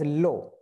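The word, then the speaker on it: l'eau: not come together, so L apostrophe and then EAU, and it is pronounced as low.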